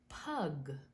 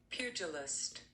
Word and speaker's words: pugilist: how to pronounce that because I said pug but it's really not pug it is pugilist huge so see I